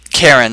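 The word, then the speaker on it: Cairne: He brings out something like a Karen. There we go. Rhymes with Baron, not quite Baron.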